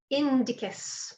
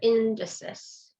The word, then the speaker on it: indicis: moving on to extensor indicus or extensor indices honestly it doesn't matter your book calls it indicus uh but it can be pronounced with a hard c or a sassy either one is acceptable so this little extender